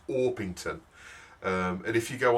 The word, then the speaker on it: Orpington: I I suggested um cooku oron now when I said this on the video it sounded more like cooku waron and and I'm sorry for my pronunciation but it's it's orpington um and if you